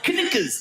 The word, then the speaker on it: knickers: Like all those words that should begin with N but have a K of all the letters that why would a K be silent? Knickers. Why is it knuckles? Knuckles.